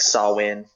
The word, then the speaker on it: Samhain: too like the paganism Samhain is the holiday I don't know if that's how it's pronounced it's like saw win in Gallic which I